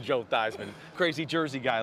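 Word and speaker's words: Theismann: back around right damn change his name to rhyme with Heisman Joe thyman crazy Jersey guy like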